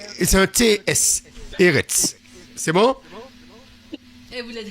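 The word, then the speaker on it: ארץ: Alors, ici, Eret. Voilà, il faut. C'est la dernière lettre, c'est un R et c'est un TS. Eret.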